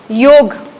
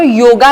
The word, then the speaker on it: योग: very good आता ऐका योग हा विषय ना एक त तो योगा नाहीये आपण म्हणतो योगा डे योगा दिवस वाय ओ जी दट स्पेलिंग इन इंग्लिश ठीक आहे पण तो योगा नाहीये दट योग योग ही आपल्या भारताची